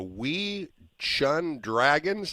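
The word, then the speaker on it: Wei Chuan Dragons: played i might be saying is wrong the wii shun dragons is that how i would say it is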